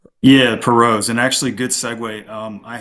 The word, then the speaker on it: Pirault: really is a story of the, am I pronouncing it right, the Perot's? Yeah, Perot's, and actually, good segue.